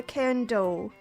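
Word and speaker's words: Cairndow: And the area, is it Cairn Dow or Cairn Do? Just Candace. Cairn Do? Yeah.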